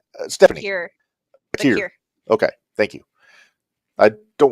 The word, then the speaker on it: Vaquer: I always get her name wrong. Stephanie. Bakir.